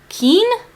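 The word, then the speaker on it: Keane: lot of grief and she meets how to pronounce his name ke Keen k e a n e Keen I'll call him keen and I just love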